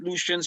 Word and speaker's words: Lucian: Lucians were Indians. and Lucian kind of rhyme with Indians, kind of, right?